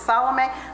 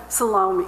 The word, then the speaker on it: Salome: tell me it's Salome then I found out it could be either or so I just bring that up so when you hear me say Salon it's okay it's not like I'm saying it wrong okay it is correct all right so this